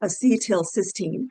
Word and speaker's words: acetylcysteine: So acetylcysteine which is pronounced acetylcysteine is used to reverse the toxic effects of acetaminophen overdose and prevent acute liver failure again.